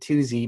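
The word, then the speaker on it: Tooze: named uh twosie rogers so t-double-o-z-e but i think he pronounced it two-z because he had he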